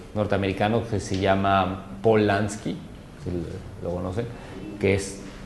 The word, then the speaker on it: Lansky: Lansky, como se oye, L-A-S-K-Y, L-N, Lansky, con Paul Lansky.